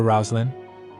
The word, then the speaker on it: Roseline: said rouslin he said let's call her rousin that's how you pronounce the name Rosaline in the East melor said in any